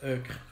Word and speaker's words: euchre: It's euchre.